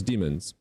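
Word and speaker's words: daemon: There was no such thing as demons. Hm. Wait. It's from diamond. No, not diamond. It's like d a e m o n. Dam or diamond or Yeah, it's it's it's pronounced demon.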